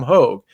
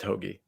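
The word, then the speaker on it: Hoge: I mean, it might be pronounced Hoagie. I'm not even 100%. I always say Hogue. Okay, we'll stick with Hogue. We'll stick with Hogue. I just wanted to let you guys know. I heard Jim Nance call him Tom Hoagie. Yeah. He's probably right because Bo Hogue was Hoag, and that's a hard G there.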